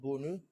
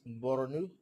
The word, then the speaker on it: Borno: I learned that it's not Bonu, it's Borno, and I also learned it's not Maiduguri, it's Maiduguri.